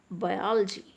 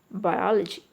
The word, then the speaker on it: biology: Same way comedian, historical, optical, practical, ability, capacity, opportunity, civilize, symbolize, emphasize, biology, zoology, physiology, geography, biography and choreography.